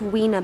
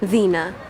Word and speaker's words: Vina: You mispronounced Weena, by the way. Vina.